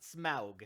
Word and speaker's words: Smaug: have this big okay so that's how they pronounce it smaug conversation but the dragon's like okay i guess